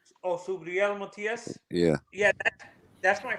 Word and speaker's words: Subriel: Subriel. Oh, Subriel Matias.